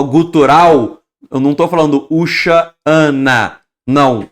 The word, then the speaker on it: Hoshana: eu não estou falando Ushana, não, o segundo A eu estou pronunciando de forma gutural, que é um E em aramaico, que ele é gutural, equivaleria ao Ain, ok?